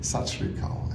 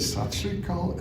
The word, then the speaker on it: Sat Sri Akal: to her at the end of the thing, Sat Sri Akal. And she said, what? And for a terrible moment, I thought, oh my goodness. I said it wrong. Yes. And I said, Sat Sri Akal.